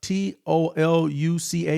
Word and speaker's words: Toluca: t o l u c a. Is that how you pronounce that, Apollo? You got it, Toluca.